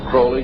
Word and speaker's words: Crowley: he likes to BR have his name pronounced Crowley to rhyme with holy and uh these satanists